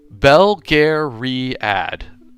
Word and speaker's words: Belgariad: Belgariad is how I pronounce it.